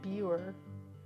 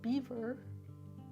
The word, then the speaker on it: Biewer: themselves it's spelled b-i-e-w-e-r it looks like buer but it's pronounced beaver just like the animal beaver and the AKC recognized